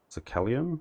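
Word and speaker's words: Sacellum: that's in the uh a Kellum dungeons that's how you pronounce that um and I think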